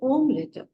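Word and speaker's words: Omelett: e i i and for omelet the spelling is same but they will say om letter they will say omlet there is a soft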